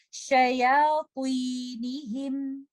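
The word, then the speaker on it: شياطينهم: Shayatinihim. Don't make letter ya heavy because of letter ta. Don't say shaya. Don't make your sheen heavy or ya heavy. Say shaya. Shayatinihim.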